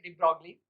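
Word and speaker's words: de Broglie: तो 1924 में 1924 में बच्चों एक साइंटिस्ट थे, ग्रेट साइंटिस्ट डिब्रॉय और डिब्रोगली, उनका प्रोनाउंसिएशन हिंदी में हम बोल सकते हैं डिब्रोगली।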